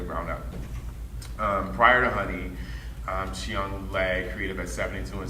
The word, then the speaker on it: Chiyong: Chiang, am I pronouncing your name correct? Chiang, sorry.